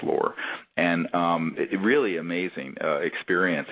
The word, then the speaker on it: Lore: It's actually pronounced Lore.